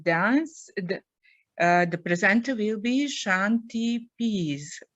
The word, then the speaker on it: Shanti: The presenter will be Shanti Pease. Right, Shanti? Yes, Shanti, please say.